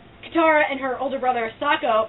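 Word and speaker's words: Sokka: and her older brother sako or as they pronounce it in this movie soko that's a side note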